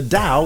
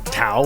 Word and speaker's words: Tao: Literally, the opening line of the Tao Te Ching, which is spelled with a T but is pronounced with a D by many, quite confusing, is the Tao, or Tao, or whatever you want